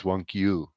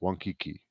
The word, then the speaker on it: wankiu: So instead of wankiki, it's wankiu. They would not pronounce it wankiki. They would pronounce it wankiu.